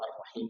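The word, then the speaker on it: الرحيم: Sehingga ketika dibaca misalnya Ar-Rahmanir Rahim, kelihatan bahwa Ar-Rahim itu memang dia harus ditarik ya ke bawah.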